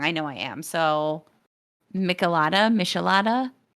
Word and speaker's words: michelada: well so it's um it's a mexican drink so that does that change how you pronounce the name to you um still being no no michelada right yeah i would think so i guess i don't have to like pronounce it so like you know anglo um which i did it's a michelada y'all um i think you're